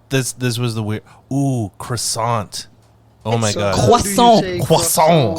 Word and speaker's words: croissant: The T at Croissant. the end of croissant is definitely silent, so do not say Oh. croissant.